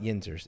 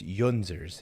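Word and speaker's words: yinzers: say yinzer in Spanish my dad is adamant that it's not yinters it's yunzers nobody says I don't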